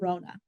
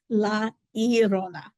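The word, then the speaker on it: La Llorona: tell the story and they call her love Lona but it is definitely not the way you say it the correct way is Laona and I'm not very good at rolling my RS there should be a little bit more of a roll there let me try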